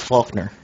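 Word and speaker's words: Falkner: The first one is Faulkner.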